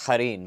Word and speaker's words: Harin: my name should technically that my name should technically be pronounced Harin but I'm in America all right so that